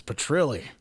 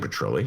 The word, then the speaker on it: Petrilli: we're just meeting him you're saying his last name wrong it's petrilli what did i say it's been saying patrolling it's like patilla or something just you know no i've been saying petrelli come on i haven't